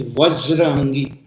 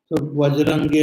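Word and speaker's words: Vajrangi: Like V is pronounced as B like Hanumanji's name is Vajraangi. Vajangi means his anger is like vajra like a diamond very hard and awesome. But V is difficult to pronounce. B is easier to pronounce. So in the in our regional language the has become bajarangi has become bajarangi bajarangi bajarang.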